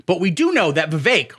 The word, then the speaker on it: Vivek: we do know that Vivek rhymes with cake is one of the